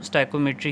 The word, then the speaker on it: stoichiometry: इसको सिमेट्री पढ़ते हैं लेकिन इंजीनियरिंग की टर्म है यह तो इसमें इसको स्टको मेट्री पढ़ा जाता है तो हम भी इसको स्टको मेट्री ही प्रोनाउंस जो है व करेंगे सो स्टाइम बेसिकली है